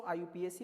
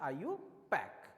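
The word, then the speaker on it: IUPAC: ध्यान रखिएगा, कई लोग इसको आयुपीएसी बोलते हैं, वो बिल्कुल प्रोनाउंसिएशन गलत है। इसका जो प्रोनाउंसिएशन होता है वो होता है आयुपैक।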